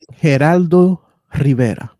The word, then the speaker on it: Geraldo Rivera: Geraldo Rivera. That's how you properly pronounce his name.